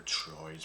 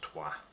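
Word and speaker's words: Troyes: goals maybe from like I call them troids but it's pronounced TWA they've got him alone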